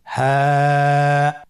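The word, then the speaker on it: ه: হ্যাঁ হা হরফটি উচ্চারণ ক্ষেত্রে অবশ্যই বারিক হবে এবং 1 আলিফ টেনে পড়তে হবে। আপনারা আমার সাথে বলুন হ্যাঁ।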